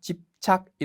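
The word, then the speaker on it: 執着: ' 슈차 쿠 ' 라는 단어 에서 는 ' 슈 ' 로 발음 됩니다 .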